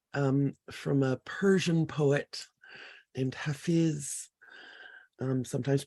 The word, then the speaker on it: Hafiz: It's a little excerpt from a Persian poet named Hafiz, sometimes pronounced Hafez.